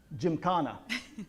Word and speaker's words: Gymkhana: in, I'm going to mess, how do I pronounce that? Gymkhana.